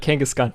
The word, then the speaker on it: Kangaskhan: Kangaskhan Kangaskhan and Z am I saying it right now Josh you want me to elongate the A's yeah you got it Kangaskhan kkhan so last time